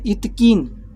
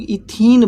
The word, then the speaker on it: इथीन: इथकीन तो नहीं बोलेंगे, तो इसको हम लोग इथीन बोलते हैं, इथीन। इसको हम लोग क्या बोलते हैं, इथीन। इथकीन नहीं बोलेंगे, इथीन बोलते हैं, है ना। थोड़ा सा प्रोनाउंसिएशन को अच्छा बनाते हैं, इथकीन बोलना अच्छा नहीं होता है, इथीन बोलना ज़्यादा अच्छा होता है ना।